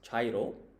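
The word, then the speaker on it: 茶色: And so this kanji here on the left, it means tea, which in Japanese is cha. And then the kanji on the right, its reading is iro. So as a whole, this is pronounced chairo, and that directly translated means tea color.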